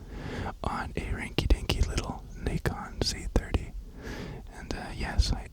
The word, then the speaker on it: Nikon: filming right now on a rinky dinky little Nikon C30. And uh yes, I asked it is in fact pronounced Nikon.